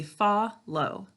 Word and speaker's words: follow: so when we're talking we say faw low to spell it we say fall low all right so this we do not hear in follow it's silent class why is that there do you remember because it's there for a reason it's there to close our first syllable and that keeps the vowel from saying its name okay so we double